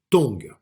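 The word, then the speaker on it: 動: Le mouvement en chinois se dit tong et s'écrit donc comme ça.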